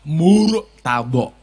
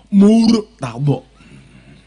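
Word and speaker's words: Murtadho: Cara pengucapannya dengan menggunakan makhorijul huruf yang pas adalah Murtado. Karena roknya ini adalah rok murokokoh, tebel. Murtado. Terus donya mulutnya agak ke depan.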